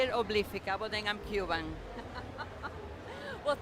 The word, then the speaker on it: Obliphica: How do you say it? Obliphica. Sophia. Obliphica. See, it is a little different.